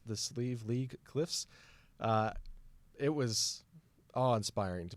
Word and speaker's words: Slieve League: It's actually pronounced the Slieve League Cliffs.